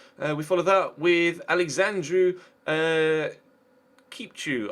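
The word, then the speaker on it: Chipciu: We follow that with Alexandru Kipchu, I believe is how it's pronounced. I was corrected on that in the comment section of a previous episode.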